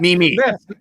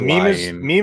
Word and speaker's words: meme: It's actually pronounced Mimi. Mimi? Yeah, Mimi. Yeah, it is Mimi. You're meme is what like old people like you would say.